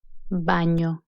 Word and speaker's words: baño: English nota no medals any is pronounced as in Canyon Montaigne baño Oh as the Oh